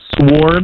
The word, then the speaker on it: sword: yeah who pronoun is it sword yeah it's sword dude a sword someone's messing with you SW